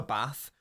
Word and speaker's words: Bath: And by the way, the place is pronounced Bath. You have a bath, but the place is Bath.